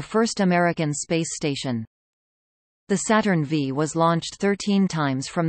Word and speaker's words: Saturn V: The Saturn V, pronounced Saturn V, was an American human-rated expendable rocket used by NASA between 1967 and 1973.